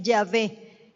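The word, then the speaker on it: Yahvé: la h otra vez para poder pronunciar el nombre hubo que agregarle luego las consonantes a&e para que suene ya ve ese es el nombre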